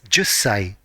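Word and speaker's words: 十歳: For 10 years old, it is jussai.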